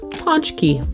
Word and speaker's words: Pączki: here's an easy way to remember how to pronounce it because eating these is your key to punch punch key and since it's an entire day devoted to